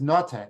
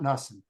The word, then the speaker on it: Nota: So the name is Nota, not Nussen, not Nissen, but the name is Nota.